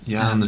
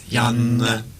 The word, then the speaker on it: Janne: I think I've actually, assuming this is Dewey online, it's pronounced in Finland. You pronounce two N's slightly longer. Janne. So it's Janne.